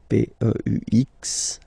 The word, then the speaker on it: peux: Okay, P-E-U-X. Okay, you don't pronounce the final X.